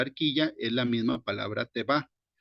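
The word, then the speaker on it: תֵּבָה: puse abajo que es la h83 92 se pronuncia te va puede ser traducido como arca cofre o nave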